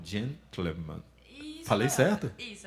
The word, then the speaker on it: gentleman: O som do TLE tem que ser um som bem junto. Gentleman. Eu não consigo. Repete de novo, é bonito. Pensa no TLE como se fosse junto, né? Uma sílaba só.